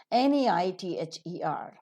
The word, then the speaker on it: neither: N-E-I-T-H-E-R. The British pronunciation is neither. Neither, nor. Either, or. But the American pronunciation is neither, nor. Either, or. So both are right pronunciations. You'll have to get yourselves